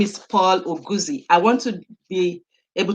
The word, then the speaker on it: Oguzie: who i'm talking to his name is paul oguzi i want to be able to pronounce it properly is it paul or as a person yes well the the the correct pronunciation is augustiae that's the pronunciation the correct word yes nice